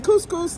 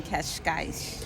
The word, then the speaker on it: Cascais: We're in couscous. No, just kidding. That's not what it's called. I just can't. I'm horrible at pronouncing things, so I'm going to let Kelly pronounce We're it. in Cascais.